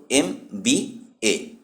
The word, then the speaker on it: MBA: এখানে MBA এর উচ্চারণ হলো MBA, যা স্বরধ্বনির মতন শুরু হয়, সেজন্য এর আগে অ্যান ব্যবহৃত হয়।